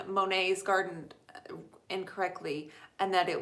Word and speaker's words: Monet: who told me that you actually pronounce Monet's garden Monet.